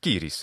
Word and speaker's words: Ciris: First we have Ciris, which Ciris, I think we pronounce it that way. Cyrus in English, Ciris in Latin.